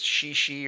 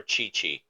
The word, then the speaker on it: Qixi: I'm guessing it's Shishi or something like that. Festival in China. It is a romantic it's centered around a romantic folk tale of star-crossed lovers separated by the Milky Way. In Wales, they have Saint Dwinen's Day, which also probably pronounced that wrong. Which, You actually pronounced it correctly. Chi yeah, good job. or Chi Chi, Chi Chi, something like that.